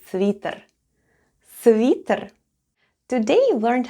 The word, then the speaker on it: свитер: The first sound is S, then goes V, I, T, then goes letter E, and in this case it sounds like E, and then we have R at the end, and all together it's свитер.